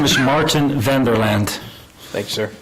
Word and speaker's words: Martin: yeah my name is martin vanderland thanks sir yeah it's myrton but that's the dutch pronunciation thank you very much